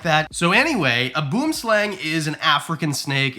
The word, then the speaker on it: boomslang: Except for one, boomslangs. Now I know someone's gonna comment, right? There's gonna be the 7 South African viewers I have. It's not pronounced boomslang, it's pronounced boomslang or whatever, right?